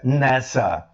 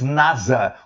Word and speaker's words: NASA: o estado da pronúncia nessa porque nós aqui no Brasil chamamos Nasa com s e som dizer mas nos Estados Unidos a NASA conhecida como nessa ROM DS The National